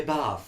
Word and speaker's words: Bath: Yes, you had to pronounce it that way, Bath?